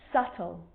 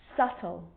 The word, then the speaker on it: subtle: think of these examples subtle death and doubt so see in all of those examples my lips aren't closing and coming together to form the b sound i'm just pronouncing the t subtle debt and doubt now